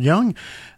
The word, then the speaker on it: Jung: Alors, ça s'appelle les huit types de personnalités selon Carl Young. Young, en fait, ça s'écrit J U N G pour ceux que ça intéresse.